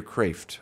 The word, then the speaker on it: Kreeft: There's a great comment by Peter Kreeft, by the way, or Peter Kraft. I always pronounce that wrong.